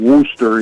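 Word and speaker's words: Worcester: first bracket there in Worster. You got to say it like they say it with a lobster in the mouth.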